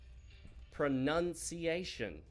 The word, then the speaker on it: pronunciation: However, when it's in the noun form, the O is dropped and it becomes pronunciation.